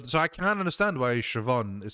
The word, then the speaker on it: Siobhan: I can kind of see how that it's just BH is sort of a V because it's kind of a B but with an H. V. If you try to say VH, you you almost make a V with your li with your with your lips and and sh is like situation.